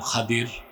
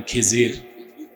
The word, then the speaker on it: খাদির: আমার এক নেককার বান্দা তার নাম খাদির যারে আপনারা বলেন খিজির উচ্চারণটা কির আমাদের দেশের লোক বলে কি খিজ এটা ভুল উচ্চারণ শুদ্ধ উচ্চারণ কি মুসা নবী বলছেন আল্লাহ